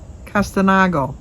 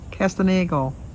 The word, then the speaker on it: Castagno: It's also, and I always say the name wrong, but I'm going to try again, Ralph Castanego. Castagno. Castagno. Castagno.